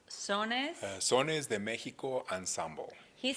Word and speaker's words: Sones: Now, help pronounce this for me, okay? It's Sones.